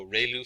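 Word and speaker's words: ReLU: have the um Ru it's pronounced like Ray the ray from the Sun and L like a name so Rayo function and we have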